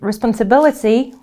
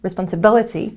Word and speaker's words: responsibility: Responsibility, avec les mots qui se finissent en « iti », l'accent est deux syllabes avant la fin. Responsibility.